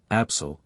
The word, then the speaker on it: Absal: The accented vowels are to be pronounced long, as in Italian, Salaman, Absal, Shiren, etc.